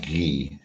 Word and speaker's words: Guy: So, which, by the way, my name is actually French. Not to cut in, but yeah, it should be pronounced Guy.